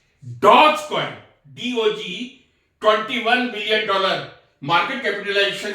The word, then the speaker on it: Dogecoin: Dogecoin, DOGECOIN, Dogecoin कहने सही है. कई जगह मैंने डॉग कॉइन भी पढ़ा है, तो दैट लुक्स ऑड.